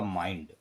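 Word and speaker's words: mind: एम आई एन डी, देखो consonant I एन डी, इसका उच्चारण होगा माइंड।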